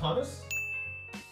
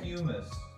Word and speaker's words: humus: Is it pronounced hummus? I thought it might be humus, but I wasn't. It's humus.